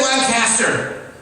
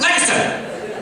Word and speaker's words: Lancaster: Don't say Lancaster, right? That means your mother's a pig in Amish. They get really mad. You gotta say it like you're in a kung fu movie. You gotta say Lancaster, Lancaster.